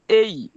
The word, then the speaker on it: A: দেখেন প্রথমটা আমরা অনেকে এটাকে এ বলে, ঠিক আছে, কিন্তু উচ্চারণটা হবে এই। ঠিক আছে, ফার্স্ট উচ্চারণটা কি হবে? এই। এই মানে এখানে দুইটা এ, এই জন্য এ না, ঠিক আছে, এই চাপ আকার হবে।